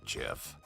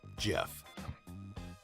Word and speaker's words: GIF: is a gift or jiff you know I've heard the creator of the gif format pronounces it Jeff guess I'll just have